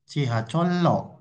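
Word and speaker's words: 지하철로: Cihacol akhirannya konsonan real menjadi cihacolo. Ya, dibacanya lo bukan ro.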